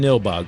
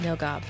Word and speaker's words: Nilbog: Number 3, name of the town, Nilbog, correct. Nilgob. Nilgob. No, you guys From are where- saying it wrong.